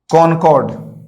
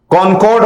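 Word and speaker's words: concord: ठीक है, कॉनकॉर्ड। अंग वाला कॉनकॉर्ड। ठीक है दोस्तों, कॉनकॉर्ड होगा, कनकर्ड नहीं होगा।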